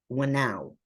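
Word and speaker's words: whānau: And she, in her book, Decolonizing Methodologies, she defined a Maori term called Wainau. Again, I could be pronouncing it wrong, so I'll spell it. Whanau.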